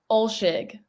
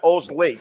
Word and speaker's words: Olshig: So let's say that again slowly. Olshig. Olshig, okay, not Olslig.